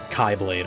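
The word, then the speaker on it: χ-blade: He destroys the Kylade, I'm going to call it, cuz Zan says that's a valid pronunciation.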